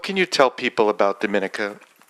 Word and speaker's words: Dominica: My country's name is Dominica. We're not Dominican Republic, so it's pronounced differently.